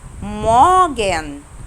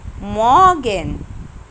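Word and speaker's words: Morgen: وهنا قبل حرف الار حرف فوكال اللي هو الاو، يبقى انا مش هنطق حرف الار، فاقولها ايه؟ مورجن. مورجن.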